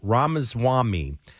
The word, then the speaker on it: Ramaswamy: I don't want to say his name wrong. Ramaswamy.